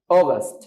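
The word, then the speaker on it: August: টান দি হালকা July অগস্ট অগস্ট আমরা অনেকেই আগস্ট বলি এটাকে বাট অগস্ট অগস্ট অগস্ট September September সেপ্টেম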